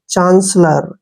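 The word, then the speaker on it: chancellor: इसको कैसे पढ़ना है सी एच का उच्चारण हम यहां पर च के रूप में करेंगे और ए को आ पढ़ते हैं एन को न पढ़ ते हैं सी ई का जो उच्चारण है श करेंगे डबल एल को ल लिखेंगे ओ आर का उच्चारण र चांसलर ऐसे पढ़ेंगे इसको चांसलर चांसलर क्या होता है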